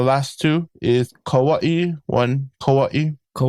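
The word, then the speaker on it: Kauaʻi: Kauaii. Kauaii. Yeah. And some people call it Kawaii even some of the natives. So it depends. I I call it Kauaii.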